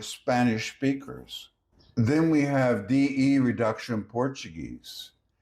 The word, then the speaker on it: de: Then we have DE reduction Portuguese. DE in Brazil is often pronounced like G.